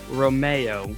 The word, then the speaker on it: Romeo: Romero, Romeo, Romeo. What do you What's the proper way to say that? It's Alfa Romeo, spelled Romeo, as my wife likes to say, like Romeo and Juliet.